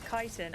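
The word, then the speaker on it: Chitin: Kiten, I think is how we pronounce it. We had a whole discussion about it in stream the other day and I'm sure it's Kitan.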